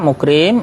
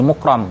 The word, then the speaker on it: mukram: Sementara mukrim itu dengan memfathahkan huruf ra menjadi mukram, ya, kalau maf'ul, ya. Kalau fi'il pasifnya kan di fathah, ya, ra-nya. Kita bacanya mukram bi fathir ra'i.